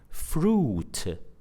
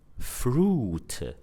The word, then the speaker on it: fruit: For example, a word like fruit, fruit. So the spelling of that word is F-R-U-I-T, F-R-U-I-T. So the combination of letters U-I in this word is pronounced oo.